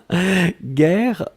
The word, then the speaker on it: guerre: Guerre, on écrit effectivement G-U-E-R-R-E. Donc vous avez le double R, donc qui ouvre la prononciation du E, et donc c'est la raison pour laquelle vous prononcez guerre.